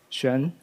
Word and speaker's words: Xuan: Um, that thing is pronounced as Shen.